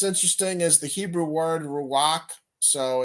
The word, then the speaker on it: ruach: one thing that's interesting is the hebrew word ruach so it's it's spelled r-u-a-c-h it talks about wind but it